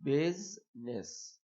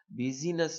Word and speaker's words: business: इसी तरह बिजनेस, बिजीनेस नहीं कहेंगे, बिजनेस, बिजनेस, आई यहाँ पे साइलेंट।